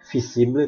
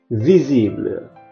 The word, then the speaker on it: visible: Kemudian huruf V itu dalam bahasa Indonesia mungkin dibaca visible, tapi dalam bahasa Prancis dia dibaca V, visible.